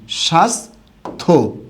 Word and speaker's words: স্বাস্থ্য: আমরা কি পেলাম যে যুক্ত বর্ণের সাথে জ ফলা থাকলে সেটা টোটালি কি যায় বাদ যায় এরপরে যে নিয়মটা আমরা